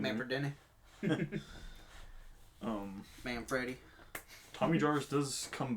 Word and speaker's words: Manfredini: The music is again with Harry Manfredi. Manfredini. I can never say his name. Manfredini.